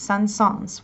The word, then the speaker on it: Saint-Saëns: It's pronounced Saint-Saëns with a hint of S at the end.